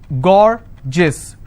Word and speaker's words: gorgeous: as well for example i have a word gorgeous so gaur jis two syllable i will stress on gore s-i-o-n tension pension so